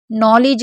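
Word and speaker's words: knowledge: सभी में डी के साथ जी होगा तो साइलेंट रहेगा, जैसे ग्रज हो गया, ब्रीज हो गया, नॉलेज हो गया, एज हो गया, बेज हो गया।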